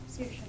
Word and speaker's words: Saoirse: Saoirse. That's how it's pronounced. Yeah. Saoirse.